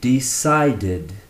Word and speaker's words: decided: Although the last letter in decide is an E, we don't actually pronounce it. So it finishes with the last consonant, which is the D sound. This would be pronounced decided, decided, decided, decided.